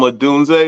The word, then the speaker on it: Odunze: Rome Odunze, is that how you say it?